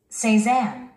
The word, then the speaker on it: Cézanne: Cézanne. Cézanne. Cézanne. Cézanne. Cézanne. 우리 한국인들은 이 단어를 세잔이라고 하죠. 세잔. 프랑스 후기 인상파 화가인 폴 세잔. 원어민들은 이렇게 말합니다. Cézanne.